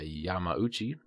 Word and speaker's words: Yamauchi: respectively in the end a Yamauchi and there is no G in there I'm not not I'm not just not pronouncing it granted kico exclusive